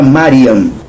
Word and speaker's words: Mariam: Como por exemplo, o nome da mãe de criação de Yeshua, Miriam. Em aramaico se fala Mariam.